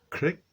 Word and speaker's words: Crick: It's just cocka Francis Crick Kirby crispy creek. It's crick.